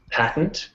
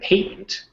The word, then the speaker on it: patent: here that I highlighted it has two pronunciations patent in North America and patent in the UK okay patent yeah awareness